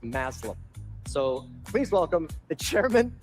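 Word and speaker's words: Thomas Mazloum: And while he deserved his own opening number, very little rhymes with Maslam. So, please welcome the chairman of Disney Experiences, Thomas Maslam.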